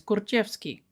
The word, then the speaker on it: Kurczewski: And Nelia said the Polish pronunciation is Kurczewski.